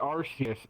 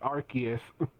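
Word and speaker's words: Arceus: bad oh I'm sure I say like I say arus and Silver's like no it's archus I'm sure I say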